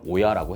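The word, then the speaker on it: 親: 합니다 부모 역할이라는 건데 이거 일본식 발음으로는 오야라고 해요 그리고 나머지 사람들은 자라고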